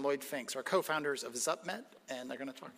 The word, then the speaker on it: Zupmet: See, I've been practicing for like an hour pronouncing uh because I walked in saying zup and he goes, "No, no, it's definitely not that, but I I got closer.